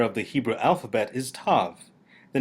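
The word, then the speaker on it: תו: With the dagesh, Tav is pronounced like the T in telephone.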